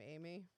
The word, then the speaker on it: Aimee: AI. Aim. Like you're aiming.